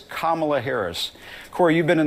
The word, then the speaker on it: Kamala: now he asked him why can't you just pronounce kamala's name correctly why do you guys say Kamala that is it's it's kamla Harris I just Jim I